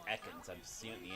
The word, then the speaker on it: Ekans: Oh, it's Egan. I don't know if it was just someone pronounced his name wrong, but it's Ekans.